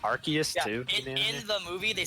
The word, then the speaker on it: Arceus: Arceus, there you go.